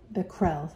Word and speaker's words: Becquerel: And Becquerel, actually it's Henri Becquerel, how you pronounce his name, in 1952.